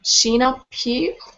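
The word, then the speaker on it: Sheenagh Pugh: men poem how do you say that name sheena pew she appears voice nicely i also read some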